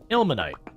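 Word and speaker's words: ilmenite: But since you wondered about the pronunciation, it's pronounced ilmanite.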